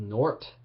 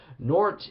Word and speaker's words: Nortt: It's a depressing, suicidal, funeral black metal project from Denmark called Nort. I believe that's the right way to say it. Nortt, Nort.